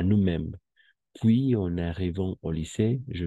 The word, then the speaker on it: puis: empezar on con vocal, ¿no sería una liaison? Oui. Y no se pronunciaría puison. Et puis en arrivant, euh, no, no, porque este puis siempre va a ser puis, sí, incluso con Ah, S.